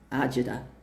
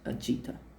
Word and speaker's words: agita: But the Italian word agita. Now, you'll hear it if you live on the the the the East Coast, you'll hear it ajida. But it's pronounced agita.